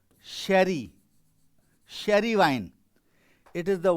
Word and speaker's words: Jerez: And here you will find the most famous winemaking center, that is although its spelling is Jerez, but it is pronounced as sherry, sherry wine.